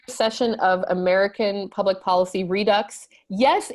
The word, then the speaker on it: Redux: And I kindly asked him, is it pronounced redo or redux?